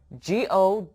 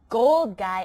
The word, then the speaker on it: Golgi: here i'll spell it g-o-l-g-i apparatus a gold guy apparatus awesome i'm going to get rich in this cell did you eat not a gold guy apparatus a golgi apparatus what's that well it